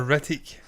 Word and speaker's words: Hrithik: I find in India they do pronounce things very sharply. Yeah. So it will be Hrithik. There's no way it's going to be Hrithik. They don't do thick. It's Hrithik.